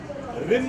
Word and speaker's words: Reem: Rim है या rim, rim है क्या? Rim है, correct? So I pronounce it right.